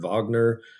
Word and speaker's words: Wagner: Uh the classic answer in the rules is uh the German composer is his German name is Ricard Vagner.